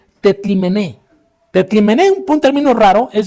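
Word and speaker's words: τεθλιμμένη: Este es un término griego que se pronuncia algo así como tetlimené.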